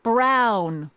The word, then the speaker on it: Brown: That's Emmett Brown. Rhymes with clown.